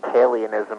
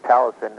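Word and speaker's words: Taliesyn: record and you know I never knew how to say the book of Talison. I used to think it was Talionism or something but now I know it's Talison.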